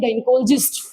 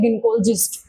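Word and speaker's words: gynecologist: गायनिकोलॉजिस्ट, ठीक है, गायनिकोलॉजिस्ट सही प्रोनाउंसिएशन होती है गिनकोलॉजिस्ट, ठीक है।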